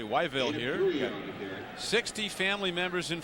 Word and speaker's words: Whiteville: is from North Carolina from Whiteville which he says they pronounce really weville here 60 family members